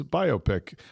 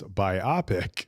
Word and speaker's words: biopic: the correct pronunciation is biopic rhymes with myopic. People often mispronounce it as biopic but the correct form comes from biographical picture. So the emphasis is on the bio part the biographical.